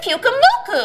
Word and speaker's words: Pyukumuku: How do you pronounce the name again? Her name is Pyukumuku.